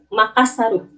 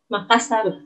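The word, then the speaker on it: マカッサル: Makassar. Makassaru. Makassaru. Jadi, R mati di belakang ditambahin U.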